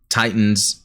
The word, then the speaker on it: Titans: Racing pointed out was, it's actually how it's pronounced in Zeta. Now, not the English, but the Japanese, they are saying Tee-tahns. And I get it's just really the Japanese phonetic pronunciation of things. But, really, I think for English speakers, Titans makes sense.